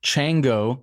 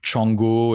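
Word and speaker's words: Txango: comes from um uh Chango is how it's pronounced or chongo in French or Chango in in Spanish it's a basque word uh do are you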